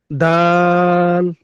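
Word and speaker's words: دال: সাথে লাগবে এই তাার স্থান থেকে ডালটা টা উচ্চারণ হয়। হ্যাঁ। দাল।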